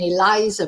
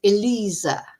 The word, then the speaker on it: Eliza: to pronounce uh because I was saying Eliza probably that's the Spanish pronunciation but it's Elisa and their surname is